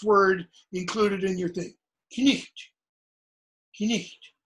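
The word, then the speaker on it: cniht: Knicht, Knicht. Notice, no silent letters.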